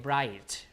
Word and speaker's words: bright: do you say it bright right do you say g and h bright like that no so gh is gone.